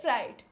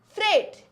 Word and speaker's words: freight: g HT it is Fright but this e i g HT is not fright it is Freight and let me differentiate